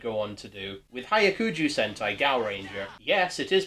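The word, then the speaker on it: Hyakujuu Sentai Gaoranger: The original Ju2 monster designs reminded me of what Toei would go on to do, with Hyakuju Sentai Gaoranger. Yes, it is pronounced like that.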